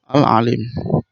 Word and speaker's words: Al-Alim: Cara bacanya ain, ada suaranya di dalam rongga mulut. Huruf lamnya dibaca panjang karena setelah lam ada huruf ya yang berharokat sukun.